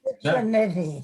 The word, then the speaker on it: Citriniti: CITRINITI. CITRINITI. I always say it rhymes with nitty gritty or itty bitty.